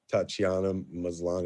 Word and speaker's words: Tatiana Maslany: I love Tatiana Maslany. Is that how you pronounce it?